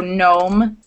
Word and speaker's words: gnome: pronounce the first letter you don't pronounce the k or the G you wouldn't say gnaw